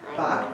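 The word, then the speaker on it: Bock: Bach, B-O-C-K, Sally, for future reference. That's my last name. I know it's really hard to pronounce, but yeah, that's it.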